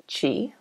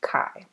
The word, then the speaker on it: chi: it should be pronounced Chi but it is pronounced Kai and we're going to